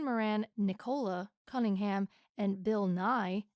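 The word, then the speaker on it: Bill Nighy: you say his name I assumed it was Bill NY n but I think it's just NY honestly that makes more sense the Y is silent I think so that's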